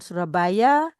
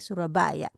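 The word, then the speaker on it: Soerabaja: di Belanda begitu ya Ee y dibaca eh J itu dibaca y Surabaya kita lihat juga ejaan lama adalah o e dibaca u jadi Surabaya ya nah terlihat lagu ini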